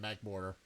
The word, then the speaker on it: Magmortar: That's how you're supposed to pronounce it, Magmortar. Because, you know, mortar is how you pronounce it.